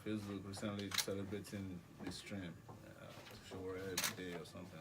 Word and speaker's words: Sowore: How do you pronounce Sowore? Sowore Sowore.